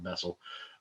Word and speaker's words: Bessel: reality and whose solution is for instance a bissell function a vessel a bissell function uh actually should be pronouncing that vessel but uh the vacuum cleaner companies got many